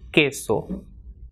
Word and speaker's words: queso: For example, queso.